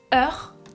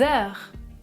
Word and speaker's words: heure: Le mot heure commence par un H muet.